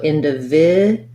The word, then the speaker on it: individual: it like individual so we have this d u actually says the j sound so individual we have the j sound there that's written this way